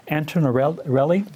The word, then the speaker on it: Antinarelli: I'm here with Antinarelli. Did I pronounce that right?